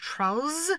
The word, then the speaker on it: Trollz: Oh, and we're going to put a Z on the end of their name, so it's pronounced Trollz, so everyone knows it's ours.